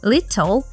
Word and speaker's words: little: in is in is little is pronounced with a flap T little and the whole